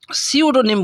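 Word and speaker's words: pseudonym: लेखक धारण करता उसको सूडो निम बोलते हैं सूडो निम यानी शद नाम सूडो निम य पी से शुरू होता है लेकिन यह पी इसका साइलेंट है सोनिम फिट टू बी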